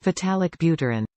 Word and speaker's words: Vitalik Buterin: Vitalik Buterin.